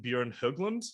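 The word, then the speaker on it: Björn Höglund: two members from Hoven Droven, Kjell-Erik Eriksson and Bjorn Höglund. Did I pronounce that correctly?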